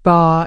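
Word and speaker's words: 八: The number 8 is pronounced ba in Mandarin, which sounds very similar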